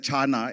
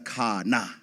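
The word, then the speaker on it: Khana: to be careful because how her name is spelled is not how it's pronounced. In that CH, I don't blame you. I said Chana as well, but it's Kana.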